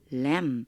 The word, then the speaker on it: lamb: 분명히 램 여기 B가 묵음이에요. 소리가 안 나요.